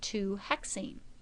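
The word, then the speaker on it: 2-hexyne: has a double bond you would pronounce it two hexine as before remember that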